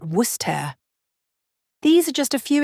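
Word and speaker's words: Worcester: pronunciation is actually Lester and then there's wer it's not West but wer these are just a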